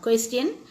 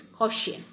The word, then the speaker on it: cushion: Children, not question. The correct pronunciation is caution.